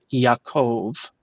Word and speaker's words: Yakov: the exact same meaning it's just a different pronunciation for jacob or or as you hear me saying yakov which is the original what what does jacob